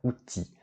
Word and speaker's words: outils: Une boîte à outils. Attention, on ne prononce pas le L.